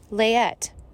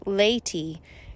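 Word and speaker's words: Leyte: and vocabulary note 1 found on page 295 layette which i have discovered i have mispronounced should be pronounced laytee it's an island in the philippines note two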